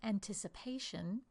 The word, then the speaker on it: anticipation: So when I say the word anticipation, the first three syllables, one, two, three, are the unstressed syllable before we get to the stressed syllable. And again, another unstressed syllable. This would be indicated by a dot dot dot long line dot.